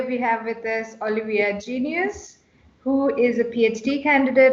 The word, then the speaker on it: Geneus: hello everyone today we have with this olivia genius who is a phd candidate at the university